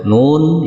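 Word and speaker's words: نون: yang pertama Nun Nah jadi ini bukan dibaca na ya teman-teman atau dibaca Nun nah ee tapi dia dibaca dengan panjang tiga ayunan atau enam harakat saya contohkan lagi Nun Nah itu ya cara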